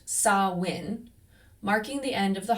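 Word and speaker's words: Samhain: Now it is written s a m h a i n but pronounced saw win marking the end of the harvest and the start of winter.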